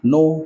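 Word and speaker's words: know: তাহলে চেনার ইংলিশ কি নো কে এন ও ডব্লিউ নো right আর আমাদের মনে রাখতে হবে কোন শব্দে এন এর আগে যদি কে থাকে তাহলে কে সাইলেন্ট থাকবে কে উচ্চারণ হবে না তাহলে কে এন ও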